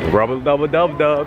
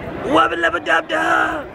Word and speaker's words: Wubba lubba dub dub: Wubba lubba dub dub. Rubba dubba dub dub. You can't even say it right. Rubba lubba dub. Okay, got it. Wubba lubba dub dub.